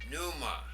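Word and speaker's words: πνεῦμα: The fourth word, pneuma. The pi there is silent.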